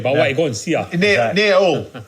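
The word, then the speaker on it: Hull: go see near near all all pronounce pronounce without H not whole all city of culture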